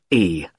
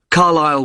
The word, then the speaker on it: Carlisle: It's Carlisle. You don't pronounce the S. Carlisle Way.